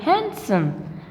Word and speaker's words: handsome: not handsome it is handsome what handsome because d is silent here and right we say